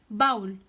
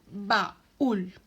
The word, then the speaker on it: baúl: No obstante, como la U se hace fuerte en nuestra pronunciación, no decimos baúl, sino baúl.